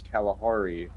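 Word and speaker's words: Calihari: Not spelled the same thing as the real life Kalahari. It It's spelled the same way as California. So, C A L A. Wait, no, no, no. Yeah. Yeah. C A L I H A R I.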